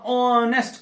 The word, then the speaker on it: honest: यहां पर एच जो है, ये एच साइलेंट भी है और ये अपनी आवाज भी प्रोड्यूस नहीं कर रहा है. यहां ऑनेस्ट की आवाज है, ऑनेस्ट की आवाज है.